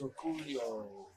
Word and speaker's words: Orcollo: Okay, the score is Thorsten Hohmann 83, Dennis Orcollo 29. How do you say his name? It's Orcollo.